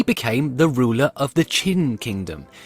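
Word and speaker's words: Qin: the ruler of the chin Kingdom now that's spelled q-i-n not like the chin at the bottom of your face chin was one of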